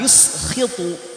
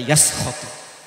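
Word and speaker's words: يُسْخِطُ: Nah, saya kasih harokatnya, takut dibaca yaskhatu. Yuskhitu dibacanya. Karena kan kalau hafiz Quran atau siapapun kita kalau baca tuh harus benar. Kalau misalkan dibaca yaskhatu itu udah salah.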